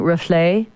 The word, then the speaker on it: Reflet: thanks again for bringing in the you're saying rufle' yeah reflect on pronounce the T at the end of that